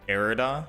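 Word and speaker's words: Irida: pronouncing it correct with arida like era but with a d yeah like I said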